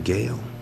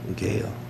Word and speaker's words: Gale: I pronounce his name Gale. Gale.